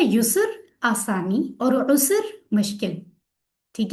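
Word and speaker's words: يسر: यूसुफ है sir. User. User बोलना यूसुफ। आसान।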